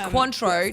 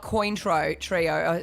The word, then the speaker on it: Cointreau: It's Cointreau, not Cointreau trio.